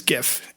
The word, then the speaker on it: GIF: I won't do this the whole time, but a hard G is a sound made with the letter G that is pronounced with a firm G. Like goat.